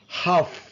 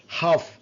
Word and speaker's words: half: Half. Half. L is silent.